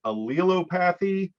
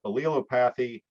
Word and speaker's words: allelopathy: I pronounce it allelopathy, but if you're an English major and you can read that pronunciation chart and say that I'm butchering that, please let me know. But for now, I'm going to stick with allelopathy.